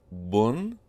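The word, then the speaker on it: بٌ: When the ba letter is on its own and we have the two dhammas, it's pronounced as bun.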